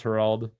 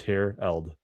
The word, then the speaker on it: Herald: If you pronounce Herald that way one more time, I swear it's Herld.